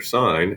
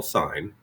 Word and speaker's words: sin: abbreviate them so for sine s I&E we like to write the word SI n now please make sure you don't pronounce that sin it's we call it still call sine the cosine we write